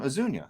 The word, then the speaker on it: Ozuna: for the Reds pitch last night I like Ozuna moving up I think darno behind him is good can at least knock him in although ozuna's pretty much home run or bus I think